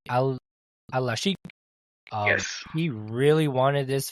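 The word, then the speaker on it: Alalshikh: This promoter, I believe I'm pronouncing his name correctly, Al-Sheikh.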